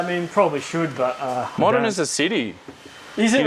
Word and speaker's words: Modena: Modena. Cool. It's not Medina. Medina, right? It's a Modena. That's the other one. You're f***ing Italian, bro. You should know that. Yeah, I mean, probably should, but... Modena's a city.